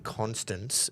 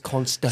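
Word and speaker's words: Konstas: By the way, everyone who keeps saying Constance, you are illiterate cunts. It's Constas. Say his name properly.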